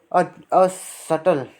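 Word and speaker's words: subtle: सटल, यहाँ B silent इस word के अंदर।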